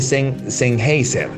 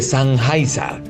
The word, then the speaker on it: Sennheiser: Y una de las correcciones que me hizo me dijo, no se dice Sennheiser, se dice Sennheiser.